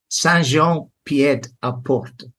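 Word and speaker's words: Saint-Jean-Pied-de-Port: Saint-Jean-Pied-à-Port. Okay. All right. So for my English spelling, I would say Saint Jean Pied de Port.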